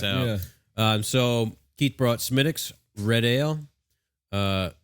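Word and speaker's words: Smithwick's: um so keith brought smitick's red ale uh it's spelled like smith wicks yeah but pronounced smitics smitics and sons ireland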